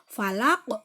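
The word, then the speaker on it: فلق: Falaq. Jadi qafnya huruf qaf itu dipantulkannya itu harus kelihatan.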